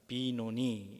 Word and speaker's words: 베노니: 본래 발음은 벤이 아니고 빈입니다. 비노니 이렇게 읽습니다.